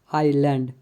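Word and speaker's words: island: का ध्वनि क्व है एस साइलेंट आई तथा आई के बीच में आया हुआ एस कई बार साइलेंट होता है जैसे आईलेट आइलैंड इन दोनों वर्ड में एस साइलेंट है टी साइलेंट शब्द के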